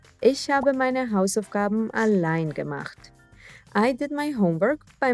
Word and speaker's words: allein: all alone by yourself a line but don't worry we won't let it get depressing a line a line a line the e i combo will always be pronounced as i i align meaning alone by